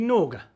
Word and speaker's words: Norge: my big guzzy the nordge or as i was picked up uh the correct pronunciation should be nauga having said that i'm